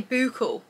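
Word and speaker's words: bouclé: you say this fabric is it boucle I say boucle I think some people say buccal but you know that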